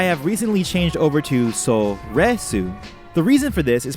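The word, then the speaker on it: Soresu: saying it normally mccoshen the longest time I pronounce this word as so we sue but I have recently changed over to so read soon the reason for this is because within the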